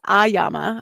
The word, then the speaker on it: AYAMA: So it's AYAMA. I love that. Is that how Yes. you pronounce it too?